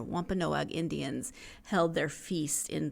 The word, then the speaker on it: Wampanoag: That it was in 1621 when the Pilgrims and the Wampanoag, I was trying to put too many syllables in there, Wampanoag Indians held their feast in Plymouth County.